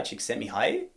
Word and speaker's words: Csikszentmihalyi: This is, I think I've learned how to pronounce his name now. Mihai Csikszentmihalyi.